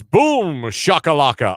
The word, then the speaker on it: boom shakalaka: It's boom shakalaka.